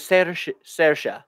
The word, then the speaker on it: Saoirse: Her name is Saoirse.